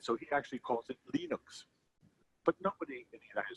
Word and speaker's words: Linux: his name and so he actually calls it Linux but nobody in the united states could say